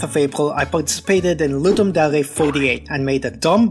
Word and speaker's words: Ludum Dare: Ludum Dare, yes, that's how it's pronounced, is a bi-yearly jam that was originally created by a watermelon.